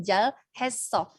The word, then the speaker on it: 잘했어: Contohnya kata yang barusan aku sebutin, 잘 했어. Kalau dibaca cepat bukan jadi L tapi 잘했어. Kenapa? Karena si L ini ketemu sama huruf H, yang mana H itu tipis banget, jadi kayak nggak dibaca.